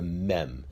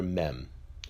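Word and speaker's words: מ: The next letter of the Hebrew alphabet is the mem. The mem has a numerical value of 40. The mem is pronounced as a m.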